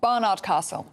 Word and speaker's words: Barnard Castle: Barney thank you right so it's Barnard Barnard Castle not Barnard what I was